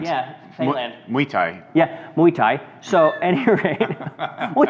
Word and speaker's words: Muay Thai: It looks like Muay Thai. Thai, like Thailand. Yeah, Thailand. Muay Thai. Yeah, Muay Thai.